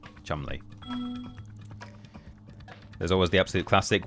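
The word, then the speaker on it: Cholmondeley: Choland delay. Choland. Chumly.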